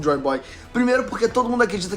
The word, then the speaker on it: Joyoboyo: O primeiro é Joy Boy, enfim, que se escreve Jaiba, mas dane-se isso aí, isso é informação pra outra coisa.